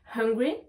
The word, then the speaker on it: hungry: On se rappelle bien que la lettre H n'est pas une lettre muette, d'accord? Donc on doit la prononcer. I am hungry, I am hungry.